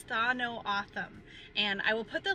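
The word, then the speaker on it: Tohono O'odham: The common pronunciation of this tribe is Tha No Atham, And I will put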